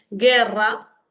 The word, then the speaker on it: guerra: Por ejemplo, a ver, guerra, en guiso, en guirnalda, no se está presentando grupo vocálico, ¿cierto? ¿Ya? No hay grupo vocálico porque la U no se pronuncia.